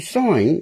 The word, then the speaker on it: sign: you sign something folks see sign is s-i-g-n okay but the g is silent isn't it such a